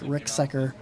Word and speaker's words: Ricksecker: and that stuff, Mike Ricksecker. It's spelled kind of weird, but it's like Rick Seeker kind of, Okay. but Secker. There's an eye in it.